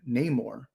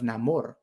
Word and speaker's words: Namor: these characters from wakanda they were pronouncing his name Neymar instead of Namor and I'm like but